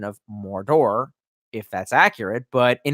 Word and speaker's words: Mordor: know the pronunciation of Mordor if that's accurate but in his Jimmy Page is very English accent he says morta similar to murder and I just always